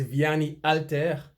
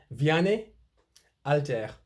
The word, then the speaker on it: Vianney Halter: The French don't pronounce H at the start of a name or a word, for that matter. Vianney Alter.